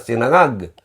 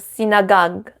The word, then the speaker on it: sinangag: So sinagag. Oops. Sorry. Sinangag. Ngag. Sinag. Ngag. Ngag. Sinangag. Sinangag. Sinangag. Sinangag. Sinangag. Ayon. Yon. practice di kas napakahirap i-pronounce yung ngag sinangag ngag ngag may mayroon